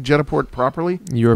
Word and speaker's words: Jetaport: Am I pronouncing Jetaport properly?